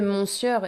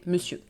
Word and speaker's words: monsieur: du temps parce que avant on disait monur et on peut l'entendre encore dans des pièces de théâtre un peu vieilles mais mais non maintenant on ne le prononce plus comme ça avec la pratique. La prononciation c'est lycée et donc c'est monsieur monsieur en fait qui était